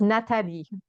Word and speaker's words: Nathalie: It's Natalie with an H because Natalie, it's not English people tend to pronounce it with Natalie. So Yeah, it's Nathalie yeah.